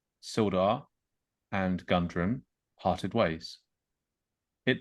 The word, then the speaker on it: Sildar: notice's deliberate and continual mispronunciation of silda as still or still gar was actually exceptionally offensive